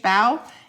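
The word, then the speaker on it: bough: I think that's how you say it, B-O-U-G-H, bow.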